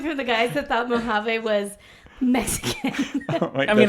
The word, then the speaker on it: Mojave: thought Mojave was Majav. Mojave. No, it was like Mojive. Mojave. Okay, but this is coming from the guys that thought Mojave was Mexican.